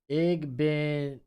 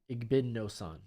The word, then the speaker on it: Igbinosun: I'm pulling up my pronunciation on him. So you got Davidson, Igbinosun. Igbinosun.